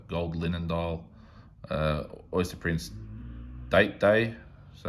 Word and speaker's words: Date Day: linen dial oyster prince date day so it's pronounced opposite the rolex instead of a day it's a date day uh this was later